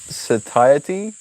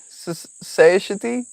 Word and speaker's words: satiety: It's pronounced like say shitty. Satiety? Society? Satiety?